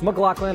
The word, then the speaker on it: McLaughlin: Yes, it's McLaughlin. I'm sure that's how you say it. No, it doesn't make sense, but neither does English, so just go with it.